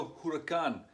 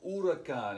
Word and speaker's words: huracán: And most of the time, the H is silent in Spanish, okay? So it's never huracán. It's always huracán.